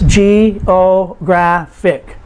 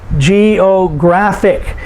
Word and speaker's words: geographic: Geographic. And so because it ends in IC, we put the emphasis on the second to the last syllable.